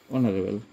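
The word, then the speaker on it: honourable: যেমন dash অনারেবল, dash অনারেবল, এইচ ও এন ও ইউ আর এ, তাহলে এখানে এন অনারেবল।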